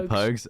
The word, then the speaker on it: Pogues: got yeah there's pokes yeah Pogues okay cool cool I was right because I remember pronounce it as pogs once and the the fairy tale of New